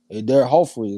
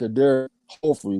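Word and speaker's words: Éder Jofre: So it seemed like that J should be pronounced as an H. Eder Joffrey is what it seemed like it should be.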